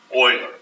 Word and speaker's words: Euler: can't talk painful call his name is boilerman Euler Euler's method and again we'll get a little history lesson on him a little bit and he was a famous mathematician and what is Euler's method or methods is a numerical method for